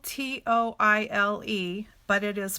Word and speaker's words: Toile: And it's spelled T-O-I-L-E, but it is pronounced Toile.